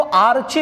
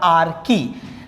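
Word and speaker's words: archae: आर्कीबैक्टीरिया को आर्ची मत कहो, ठीक है, आप याद रखने के लिए आर्ची कह सकते हो, कोई प्रॉब्लम नहीं, लेकिन एक्चुअली दे आर आर्की।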